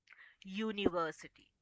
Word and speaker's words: university: before that university correct because university sound consonant sound that is of year though we are using the letter U. We are you starting the sound with year university. Correct? So it's a sound of a consonant.